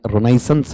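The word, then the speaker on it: Renaissance: नहीं जुड़ा हुआ था आप लोग इसे रेनेसा कहते हैं शुद्ध उच्चारण में रिनेसेंस है रेनेसा नहीं बोला जाना चाहिए कुछ हिंदी माध्यम की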